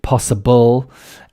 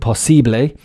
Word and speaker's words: possible: As you can see, possible, LE at the end, possible, like in French or Italian or Spanish. But in English, of course, the pronunciation is EL.